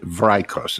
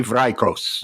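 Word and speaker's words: Vrykos: His name is I always have pronounced it Vikos. It's V R Y K O S.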